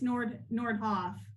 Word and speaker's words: Nordhoff: And I said Nord. I'm sorry, it's Nordhoff.